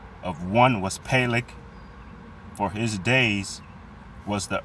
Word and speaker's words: Peleg: Peleg. Peleg. So they pronounce it Peleg.